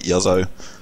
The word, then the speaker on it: Juzzo: called with a J, but I was living in Sweden at the time, so J's are pronounced as Y's, so it's like Juzzo.